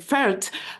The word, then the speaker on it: Pferdt: I did uh somewhat I was trying to pronounce your name German way but I think I I didn't pronounce it very well it's Dr fer and uh Dr